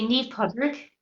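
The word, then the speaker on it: Naomh Pádraig: Irish what would the we say ne Podrick NE Podrick St Patrick okay interesting I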